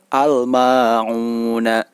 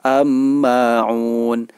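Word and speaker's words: الماعون: Al-ma'una. Al-ma'un tidak boleh dibaca sebagai "amma'un". "Ama'un", padahal cara membacanya adalah "al-ma'un".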